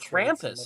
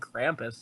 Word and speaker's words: Krampus: ] I just bet crampus I mean it's German so maybe I'm the wrong one but it's spelled Krampus if you say the letter A with a German accent it's it's kind of